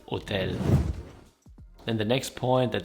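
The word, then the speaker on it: hôtel: And then the H is always silent, like in all Romance language I know so far. So it's not hotel, but for example hotel.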